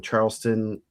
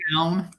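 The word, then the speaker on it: Charlestown: He has Dustin Collier from Charleston. Is it Charleston or Charles Town? Town.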